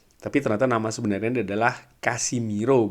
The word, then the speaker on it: Casemiro: Tapi ternyata nama sebenarnya adalah Casimiro, bukan Casemiro ya.